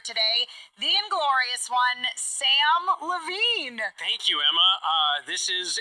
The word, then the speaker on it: Levine: I said to the crowd, my name is Sam Levine, not Sam Slovene. True, Because there's no S on the first part of Levine.